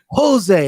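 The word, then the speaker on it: José: wanna you can't say jose aldo because they don't pronounce the jays in brazil it's jose it's an h nah it's jose okay these colors don't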